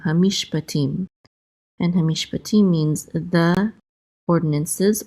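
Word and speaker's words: הַמִּשְׁפָּטִים: Okay, and then hamish, and then we have a pei with a kamatz, which says pa, and then a tet with a chirik and the yud together, say ti, and the mem sofit closes that syllable out, so we're going to say tim, hamishpatim.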